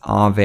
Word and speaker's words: Aave: recently found out that they're actually pronounced as Ave and Ave is a lending platform